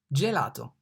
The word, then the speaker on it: gelato: G, gelato. The G is pronounced like G in gender, gender, gelato.